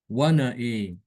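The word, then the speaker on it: وَنَأَىٰ: Jadi nanti dibacanya wana e. Wana e. Bukan wana aa tapi wana e.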